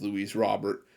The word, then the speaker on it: Luis Robert: Dugout it was uh Luis Robert coming in as well by the way I did check the pronunciation on the name I've seen in multiple places it's Louise Robert again I'm not going